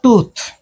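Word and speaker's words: tooth: है मैंने, फुट और टूथ। ध्यान रहे उच्चारण, डबल ओ का यहाँ पर छोटी ऊ की मात्रा उच्चारण है, यहाँ बड़ी ऊ की मात्रा उच्चारण है। ये फुट होता है, ये टूथ होता है, ठीक है ना।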